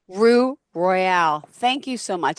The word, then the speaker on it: Roux Royale: messed it up twice it's okay so it's Rue Royale Rue Royale thank you so much it's spelled r o u x r o y